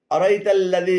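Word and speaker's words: أرأيت الذي: এখানে আরাআইতাল্লাযী ভুল উচ্চারণ। শুদ্ধ উচ্চারণ হবে আরাআইতাল্লাযী, আরাআইতাল্লাযী।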